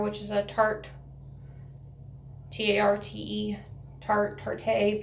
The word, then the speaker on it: Tarte: is a Tarte, T-A-R-T-E, Tarte. People pronounce it different ways. I think it's Tarte.